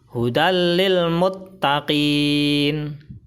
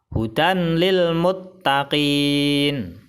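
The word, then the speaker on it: هُدًى لِلْمُتَّقِينَ: Contoh yang tanwin. Hudal lil muttaqin. Hudal lil muttaqin. Kesalahan baca yang pertama adalah hudal lil muttaqin. Salah. Karena bacanya tidak ditahan dan tidak didengungkan. Kesalahan baca yang kedua adalah hudan lil muttaqin. Salah. Karena bacanya harus dimasukkan ke huruf idgham bila gunnah.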